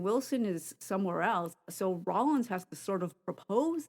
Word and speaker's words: Rawlins: interesting I mean um say his name it's Rollins yeah I know it's Rollins but that's where um